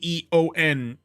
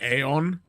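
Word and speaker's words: aeon: from with the ae cuz with a e o n it's it's pronounced e on but it it can be entirely understandable if you go aon. I used to do that all the time.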